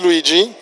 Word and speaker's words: Luigi: please tell us your name my name is luigi luigi luigi luigi i've got it right that's the right pronunciation thank you thank you so your take